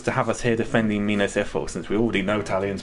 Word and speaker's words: Minas Ithil: Minas Ethel? Yeah, Minas Ithil.